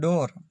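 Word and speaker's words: door: यहाँ देखते हैं डोर, D double O आर, डोर दरवाजा, फ्लोर, तो यहाँ डबल ओ का उच्चारण ओ हुआ, यहाँ ए हुआ और यहाँ पर ऊ हुआ।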